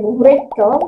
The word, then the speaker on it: wrinkles: berkeriput adalah she has wrinkles. Membacanya tidak boleh wrinkle, W-nya tidak boleh terbaca, ya, membacanya adalah wrinkle, masuk ke R-nya.